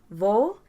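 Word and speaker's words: vou: say ilvo i'm going vol has an o u at the end so the o and the u blend together to make this o sound blend together might feel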